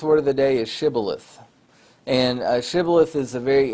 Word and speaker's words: shibboleth: And the people in Gilead pronounced the word shibboleth, and the people in Ephraim pronounced the word sibboleth.